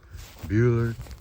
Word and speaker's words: Bueller: Bueller. Yeah, that rhymes with fuel.